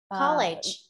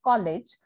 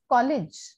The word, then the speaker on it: college: also pronouncing it as college but just check the dictionary and the dictionary will tell you that the pronunciation is college college yeah college it's short e yeah how do you